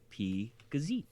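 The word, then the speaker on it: Pi'Ghzit: Our school is called P Gazette. P Gazette. You want to spell that before I attempt to? Sure. P-I Mm-hmm. apostrophe G-H-Z-I-T. P Gazette.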